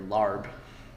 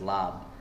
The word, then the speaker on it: larb: review saying you know your larb uh which is the most improper way to say this lar is when you go to Thailand La you you ask for lar and no one knows what you're talking about you know it's lob it's only ever been